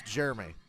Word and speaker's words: Jeremy: a driver Jeremy Jeremy it's Jeremy Jeff Burton added an extra syllable to Jeremy Clement's name Jeremy it's gonna cost